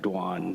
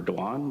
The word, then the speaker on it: Doan: name is is uh dwan so Vietnamese because of French uh the French influence we pronounce it dwan but I'm used to being called as well similar to